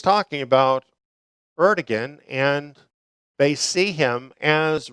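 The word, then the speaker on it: Erdoğan: Now, this brings us to a consideration of President Erdogan in Turkey. Some say Erdogan. That's another pronunciation. I use just the more American kind of pronunciation, Erdogan.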